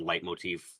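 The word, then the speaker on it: leitmotif: I always thought I was saying it wrong when I said light motif. I was surprised when I learned it was actually the correct way of saying it.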